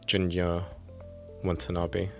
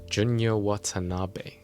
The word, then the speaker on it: Junya Watanabe: uh first up we have a jacket from Junior Wabi junor wanabi say it properly mate it's a uh bomber